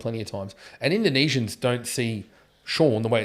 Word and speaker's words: Sean: Well, it's like my name's Sean, right? And it's spelled Irish spelling, S-E-A-N.